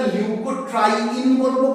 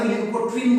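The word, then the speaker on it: leukotriene: তাহলে আমাদের কাছে ক্লিয়ার হলো যে কেন এটাকে আমরা লিউকোট্রাইন বলবো। কেন লিউকোট্রিন বলবো না? লিউকোট্রাইন একসাথে লিউকোট্রাইন। বুঝাতে পারলাম?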